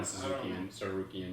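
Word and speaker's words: Tsarukyan: I don't know how to pronounce his last name. Well, Arman's really fucking good. So Sorokian? Arman Sarukian, yeah.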